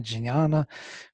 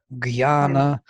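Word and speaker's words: ज्ञान: I would always say yajna, jnana, and people who are from India, they would say yagya, gyana, or whatever.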